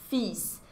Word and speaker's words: fils: sertão filho ok e aí fiz é uma palavra de exceção que você não pronunciou ele mas pronunciou s mesmo singular não fez e